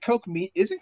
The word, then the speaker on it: Koch: I always thought it was Koch Media. No, it's Coke. It depending on how you say it, sometimes it's Coke. Cook Media.